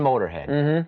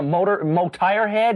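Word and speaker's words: Motörhead: For instance, the band Motorhead. They use an umlaut. It doesn't change the way you say it at all. Yeah, Motirehead?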